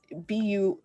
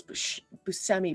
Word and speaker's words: Buscemi: the actor was like it's b-u-s-c-e-m-i there's no h um and tom hanks was also like that um but yeah so so all y'all pronounce busami buscemi and you should feel bad but yeah i had